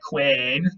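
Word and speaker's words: cwēn: This probably would have been pronounced something like queen, all right?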